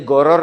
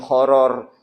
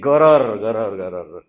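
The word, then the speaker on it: غرر: Bu bacanya goror ya, jangan horor. Horor beda lagi ya. Ini goror.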